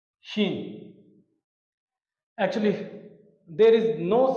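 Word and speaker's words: شین: So to pronounce this shin, we use S with H for the sound like sh, shin.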